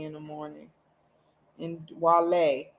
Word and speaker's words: Wale: He's like Wale, not Wally. I know he used to get mad as crap when people call him Wally. Because the way his name is spelled, it sounds like Wally, you know, but it's Wale with Downtown Hot Radio.